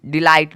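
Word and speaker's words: delight: आई जी एस टी डिलाइट डिलाइट मतलब होता है आनंद आप देखोगे यहां पे भी ट निकला है टी का लेकिन जीएच का कोई भी उच्चारण साउंड नहीं निकला है सेम आपको यहां पे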